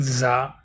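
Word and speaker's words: ز: Make sure when you are pronouncing Za, you whistle because Za is one of the whistling letters.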